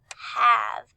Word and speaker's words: have: say the word have have have is spelt h a v e so the sounds we hear we hear ah the e makes kind of a silent sound we don't really hear the e so we hear the